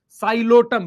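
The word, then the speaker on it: Psilotum: उसके कुछ एग्जांपल हैं, साइलोटम, पी साइलेंट है बेटा, साइलोटम, terrace, Dryopteris, अडियंटम, azolla, equisetum.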